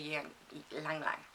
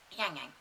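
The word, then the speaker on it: ylang-ylang: couple of drops of Ylang Lang. Yang Yang. Lang Lang. Yeah, it's spelt like Lang Lang, but Yang Yang.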